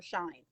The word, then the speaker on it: Shein: I think it's she and N, like the ampersand, but everyone just calls it Sheen or Shine. I call it Shein because that's what I thought.